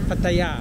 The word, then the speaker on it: Pattaya: How do you pronounce Pattaya? Pattaya.